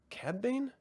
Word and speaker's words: Cad Bane: And then they bring in Cad Bane. Cad Bane?